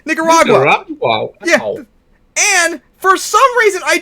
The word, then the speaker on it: Nicaragua: want to take over nicar waga I'm saying it wrong and all that yeah Nicaragua and for some reason